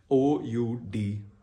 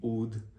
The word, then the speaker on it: oud: So it is O-U-D, oud. The D here is pronounced as the sound of T-H-E, the.